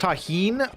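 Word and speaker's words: Tajín: It's pronounced taheen. It's uh like a Mexican spicy chili lime.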